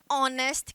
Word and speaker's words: honest: que na língua inglesa só existem quatro palavrinhas em que o h é mudo Ou seja que o h tem som de vogal é que significa herdeiro Hauer que é hora que é o exemplo que eu passei para vocês anteriormente honer que é honra e honesto que significa honesto então honest Man um